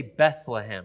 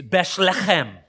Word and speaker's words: Bethlehem: That is not how you say it in Aramaic or in Hebrew. It's Beshlechem. Right? And I'm emphasizing and embellishing it just a little, but again, to my Western English, it's kind of, you're kind of spitting at me when you say it, but that's, they would say it like that.